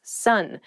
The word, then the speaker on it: son: A male child is someone's son. Sun. S O N is pronounced exactly the same as s u n.